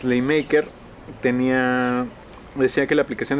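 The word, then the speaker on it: Schleiermacher: nos conteste esa duda cómo se pronuncia es ley market está la convocatoria por favor en la caja de comentarios y nos puedan éste es decir la pronunciación correcta bueno es ley maker tenía decía que la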